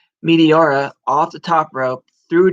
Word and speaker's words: Meteora: Meteora off the top rope, through Joe Doring, through Eddie Edwards, took them all out of the match.